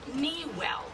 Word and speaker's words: Niguel: now by the way Miguel was originally pronounced nwell because it was an Indian name for a wano Indian village that was along Aliso Creek at any rate the